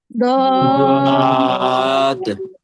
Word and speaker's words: ضاد: একেবারে এটা এমন যে আপনার উচ্চারণ অনেকটাই জদের কাছাকাছি উচ্চারণ দিকে যাবে, যেটা আমরা সিম্পল জ উচ্চারণ করি ওইটার কাছাকাছি, মানে একেবারে হবেই না, কিন্তু একটু পার্থক্য থাকবে। আবার কি ডাইরেক্ট দত, এটা উচ্চারণ সঠিক হবে না।